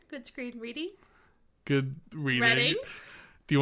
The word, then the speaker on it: Reading: Reading reading? Well, people who don't know it's pronounced Reading, they'd say reading and reading.